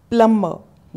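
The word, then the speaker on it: plumber: nurse nurse are silent प्लंबर यहां पर B silence प्लंबर प्लंबर कौन होता है जो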